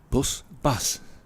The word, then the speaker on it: Bas: Is he Baz or Buzz? Bus? Bus. I think the Dutch pronunciation even is bus, but I think his Bastian is his full name.